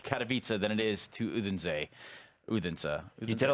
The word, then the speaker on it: Odense: and it is an even longer road to Katowice than it is to Odense. Odense. You did it like the American pronouncer. Odense. Oh, Odense.